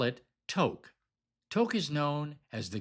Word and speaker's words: Tok: Tok is pronounced like joke or coke.